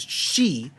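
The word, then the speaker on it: 四: do with italy because four in japanese is she which sounds like the word for death so as such for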